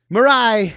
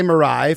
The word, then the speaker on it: Mirai: Is there anything at Hi Mirai for folks who want to follow you? Yeah, at hi.mirai. That way you can remember how to pronounce Mirai as well.